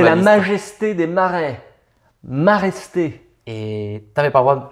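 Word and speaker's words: Maraiste: Donc c'est maresté, pas mareste. Mareste, ça veut rien dire.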